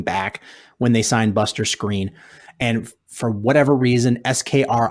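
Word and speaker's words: Skrine: he wasn't coming back when they signed Buster screen and for whatever reason SKR ine how that's pronounced screen I don't know I learned that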